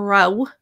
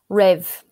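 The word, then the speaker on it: raibh: um r-a-i-b-h in canards so i would say raw or rao um there's a few different ways to pronounce this uh raw herald i would say yeah kind of irish and how would you say it in one stood in rev very much a hard v sound at the end rev um a lot of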